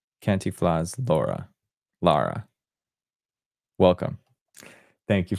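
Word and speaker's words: Cantinflas: I got the pronunciation here. Thank you very much. Where is it? Kantiflas. Kantiflas.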